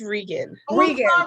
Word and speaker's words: Regan: favorite reagan is it is it reagan or is it regan it's regan okay we hate uh